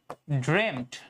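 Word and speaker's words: dreamt: তুমি একটু খেয়াল করো আমি বললাম যে হি ড্রেম ড্রেম ড্রেম মানে কি ড্রিম না কিন্তু উচ্চারণ উচ্চারণটা ড্রেম হয় ঠিক আছেড্রেম নাইস ড্রিম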